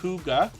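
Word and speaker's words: hygge: and hopefully catch it the next time around Huga Homestead is in the house as well h y g g e is pronounced Huga and it means cozy peaceful home in Danish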